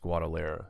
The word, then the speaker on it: Guadalajara: And I do believe the J is a soft J. That's why it's pronounced Guadalajara, if I'm not mistaken. Guadalajara. Still it's soft. An H sound. It's a soft J. It's an H.